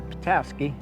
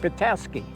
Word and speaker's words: Petoskey: it pretty close but the Europeans when they came phonetically pronounced it Petoskey and that's where the name came from for the town patasky that's all agnius